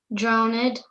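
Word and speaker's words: drownèd: me say it again dronid drowned because of why let being light be drowned if she sink so by putting my accent on the second syllable of drowned drowned we get the rhythmic structure do you hear it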